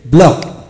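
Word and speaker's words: block: সিকে লক এলু সিকে লক বি এলু সিকে ব্লক এস সি কিউ ইউ আই টি আকুইট আকুইট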